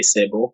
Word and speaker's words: Sebo: Okay, first of all, my name, my real name is Sebo. But some of them they pronounce it and say Sebo, but it's cool with me.